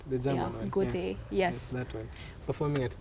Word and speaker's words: Goethe: Is that how it's pronounced? The German one? Goethe, yes.